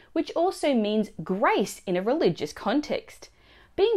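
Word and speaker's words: grazie: on how to pronounce grat it's not gra two syllables it's three syllables it's gra you can also add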